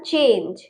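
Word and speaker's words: change: Next है हमारा चेंज। इसमें भी लास्ट में ई है तो चेंज जी नहीं पढ़ेंगे, चेंज।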